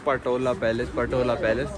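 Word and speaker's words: Potala: कहने लग रहा हूं पटोला पैलेस पटोला पैलेस पटोला नहीं है भाई पोटाला पैलेस है मैंने अभी पढ़ा की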